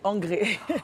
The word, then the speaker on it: Angré: C'est André? Non, c'est pas André, c'est Angré. Bon. C'est un G à la place du D.